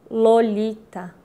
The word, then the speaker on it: Lolita: Lolita, a ponta da língua descendo em três saltos pelo céu da boca para tropeçar de leve no terceiro contra os dentes.